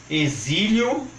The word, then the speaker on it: exílio: o porto Itu e agora atenção também para as palavras de x com som de z como por exemplo exame exílio exemplo Êxodo exumação e exerese notem que por uma